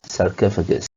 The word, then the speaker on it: sarcophagus: life so they are in the same little syllable so sarkoff sarkoff and you are against this sarcophagus okay you have to bailed from you can